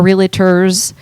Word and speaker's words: Realtors: Zillow came out after our realtors was established, right? NAR was It's established. a 2-syllable word.